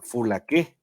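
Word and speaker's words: φυλακή: cuatro treinta y ocho más o menos se pronuncia full A qué y aparte de cárcel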